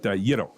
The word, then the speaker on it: gyro: Uh which sounds like hero with a Y, but Yiddo.